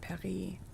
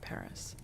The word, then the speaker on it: Paris: I would pronounce it Perry, but if I'm speaking in English, I pronounce it Paris. So mostly because if you're speaking English and then you just say Perry, you sound super pretentious.